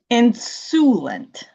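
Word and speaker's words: insouciant: And pronounce it one more time for us. Insulent.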